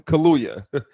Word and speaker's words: Kaluya: how do you say his last name again kaluya i was watching an interview with him on